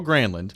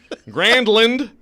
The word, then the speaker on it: Granlund: So Mike No, Granlund. I love Bradford's. Bradford and Poyle are like opposite ends of the spectrum. Poyle makes every name like how he wants it to be, like Mikey Grandland, and Bradford tries to looking at the pronunciation